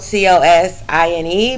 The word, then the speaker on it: cosine: um the next one is cosign um it is spelled c o s i n e but we pronounce it as cosine and the